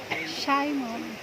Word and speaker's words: Simeon: So sa kinabuhi karon ni Jeyo Simeon, manang ka pronounce? Simon. Ang manggod ko ng siya na Simeon yun ni Simon. Silent H. Okay.